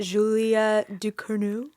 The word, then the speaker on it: Julia Ducournau: this is, I think it's, how do you pronounce it? Julia Ducournau?